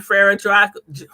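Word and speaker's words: Frère Jacques: But that is again Frere Jaques.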